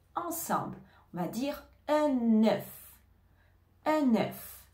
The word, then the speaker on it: un œuf: ensemble on va dire un œuf un œuf on fait la liaison j'ai mangé un œuf